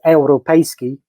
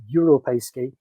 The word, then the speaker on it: Europejski: have to say it's Europejski. I allow a kind of more anglicized version of that as Europejski.